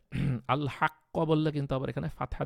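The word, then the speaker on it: الحق: উপরে কিন্তু অনেক ভালোভাবে এফর্ট দিয়ে আপনাকে কলকলাটা উচ্চারণ করতে হয়েছে তারপর ধরেন আল হাক্ক আল হাক্ক আল হাক্ক এখন এখানে কিন্তু অনেকটা আল হাক্ক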